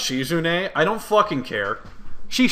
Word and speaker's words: Shizune: Shizun.